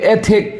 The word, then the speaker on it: ethic: देखिए ई के ऊपर लकीर है, ई के ऊपर लकीर, इसका मतलब ई पे जोर देना होगा, और जो 0 है उसमें पेट कटा हुआ है, थ होता है, थ। इसको यदि आप मैथमेटिक्स की भाषा में बोलेंगे तो थीटा होता है। तो देखिए एथिक क्या पढ़ेंगे, एथिक दिस इज अ नॉन, इसका